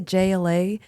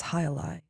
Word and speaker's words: Jai Alai: I was like, "Can I get the JLA?" They're like, "It's Alai."